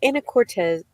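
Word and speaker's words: Anacortes: in a town called Anna Cortez no Anna Cortez there's not a z at the end it's an S and I keep saying it wrong it's in Washington very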